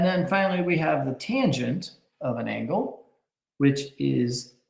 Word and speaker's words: tangent: And then finally, we have tangent down here at the bottom, and it's pronounced just like it looks, tangent.